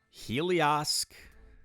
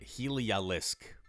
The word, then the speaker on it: Heliolisk: Helios getting Breaking Swipe. Where's, like, Helios in the rankings? Is Helios? It's like a tongue twister. Say Heli. Oh, I'm mispronouncing it. Heliolisk. I always said Helios.